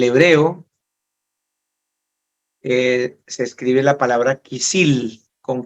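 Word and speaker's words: כְּסִיל: La palabra necio en el hebreo se escribe la palabra kisil con K, K-I-S-I-L, kisil, que significa tonto, bobo, insensato.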